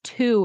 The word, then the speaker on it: to: pronounce it as four and I will pronounce this as two if it's at the end of the sentence so if I say